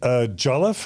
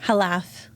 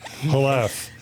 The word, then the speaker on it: Jalaff: Halaf. Oh my gosh, I totally butchered it. Halaf. Yeah, I should have asked you that first. Uh, and it's pronounced it's Spanish pronunciation, so I should have known it.